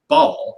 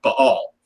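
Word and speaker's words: Ba'al: And the name Beelzebub is often associated with the Canaanite god Baal, or if you're pronouncing it correctly, Baal, because there's a little apostrophe between the A's there.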